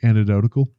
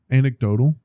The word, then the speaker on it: anecdotal: so this might be completely antidotal right I believe that's how you say that word anecdotal I don't know I added like two extra syllables on that word know you know Anakin